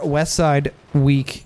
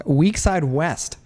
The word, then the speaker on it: Weakside West: Now the question is going to be whether Westside Weak... that's not it. Again, I don't know why I keep saying his name wrong. Weakside West.